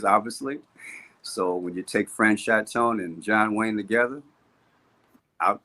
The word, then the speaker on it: Franchot: I was using the French pronunciation, Franchot.